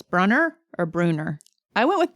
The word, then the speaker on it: Brunner: Do we think it's Brunner or Bruner? I went with Brunner in my head. Rhymes with Brunner. Yeah. Right in nicely. The double N. Yeah. Lean. Yeah, seems like runner.